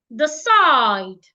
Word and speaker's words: decide: say after me me the side this word has two syllables the side and it's a verb remember the rule we should stress the second syllable side so the first syllable